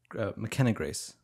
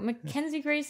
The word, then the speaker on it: McKenna Grace: McKenna Grace. Okay. So, guys, I wasn't that far off. I was, like, a syllable off. McKenna Grace. Yeah, it's, like, as close as Taika Waititi. No, Mackenzie Grace and McKenna Grace are,